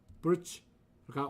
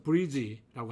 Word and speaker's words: bridge: 여기에서도 단음 bridge는 단음절입니다. DG 발음에 D에는 모음이 없습니다. 그래서 자음만 발음을 해야 되겠죠. 그래서 올바른 발음은 bridge가 올바른 발음이고요. 틀린 발음은 이 G 다음에 E 또는 위 모음을 넣는 거죠. 그래서 bridge라고 하든지 아니면 bridge라고 하든지 이와 같이 모음을 넣어서 발음하는 것은 틀린 발음입니다.